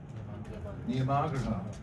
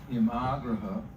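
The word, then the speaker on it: नियमाग्रह: Niyamagraha. This is a double, daily double. You get 2 out of this one. So niyama, and it means rules, and it's a long A in the middle. Niyamagraha, or you can make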